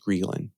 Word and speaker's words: ghrelin: What hunger really is, you can say, is our experience of a hormone called ghrelin. It can also be pronounced ghrelin, but I'll call it.